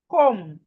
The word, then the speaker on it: comb: So as we can see, whenever we see M and B in a word, the B is silent.